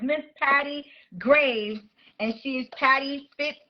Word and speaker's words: Greaves: let's go Miss Patty greeves I'm saying it correctly right well it's Graves but it's okay okay